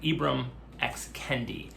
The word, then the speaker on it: Ibram X. Kendi: want to make sure I say it correctly, Ibram X. Kendi, leading voices, leading African American authors.